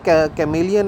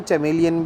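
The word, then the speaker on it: chameleon: अच्छा, ये जो कैमेलियन है ये कैमेलियन भी होता है और इसको चैमेलियन भी कहते हैं, ठीक है। सो प्रोनाउंसिएशन में कोई प्रॉब्लम नहीं, वैसे कैमेलियन बोले, कैमेलियन ज़्यादातर बोलते हैं, तो आप चैमेलियन बोलेंगे तो कोई मतलब गलत नहीं है, वो बोलते हैं कुछ लोग चैमेलियन भी बोलते हैं।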